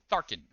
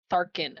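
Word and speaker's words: Tharchion: Yaz will say, thank you to, it's pronounced Tharkin? Tharkin. Tharkin, okay.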